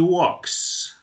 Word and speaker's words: walk: Y entonces decimos, she walks. She walks. ¿Sí? Miren la pronunciación de este verbo. La L no suena. Nosotros decimos walk. Walk.